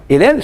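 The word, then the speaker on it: εἰρήνη: No grego moderno tem essa questão do, quando você pega um ditongo lá, você pega a última vogal, né? Irene, como se escreve a palavra.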